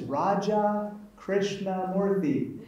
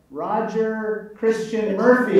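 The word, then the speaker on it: Raja Krishnamoorthi: I said, hi, my name is Raja Krishnamoorthy. And the person looking right back at me in Chicago said, Roger Christian Murphy.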